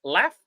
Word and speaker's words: laugh: with words like this laugh it's written like GH but it's pronounced with F and we know that